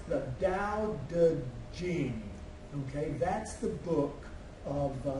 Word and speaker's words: Tao Te Ching: What's underlined there is it's pronounced the Tao Te Ching.